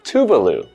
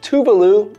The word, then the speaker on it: Tuvalu: Now here we have the name of the country, Tuvalu. Now you might hear people say Tuvalu or Tuvalu because both of these pronunciations are acceptable.